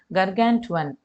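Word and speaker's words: gargantuan: இப்போ ஃபஸ்ட்டு கர்கான்டுவன் அப்படின்னு சொல்லணும். இதை ப்ரொனவுன்ஸ் பண்ணுறாங்க.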